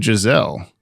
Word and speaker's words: Giselle: name, like Gisela and Giselle and all that stuff. Mm-hmm. Apparently it's not even Giselle. It's Giselle with a soft S sound.